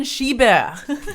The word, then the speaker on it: Schieber: Today we have Schieber. That's right. I'm pronouncing the R at the end.